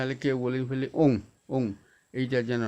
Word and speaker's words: ওম: এর দেখুন চন্দ্রবিন্দু আছে আবার ও টা কি হয় অ যোগ উযোগ মম ওম এই ওম কথা তাকে এ করবে না হলে কেউ বলে ফেলে ওম ওম এইটা যেন না